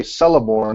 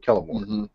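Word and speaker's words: Celeborn: other variations letter 187 I also used to say celorn instead of kellor sure yeah it's okay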